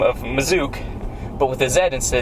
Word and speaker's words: Masuch: Massuk. It is a little bit odd. It's But there's like a zed sound in there.